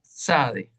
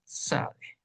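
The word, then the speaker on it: צדי: lo tenemos en español, porque es un sonido compuesto de dos sonidos, la T y la Z, como el zumbido de una abeja. Ps, ps, ps. Esta es la SADE.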